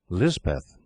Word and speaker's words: Lisbeth: The Kotgarth chaplain christened her Elizabeth, and Lisbeth is the hill or Pahari pronunciation.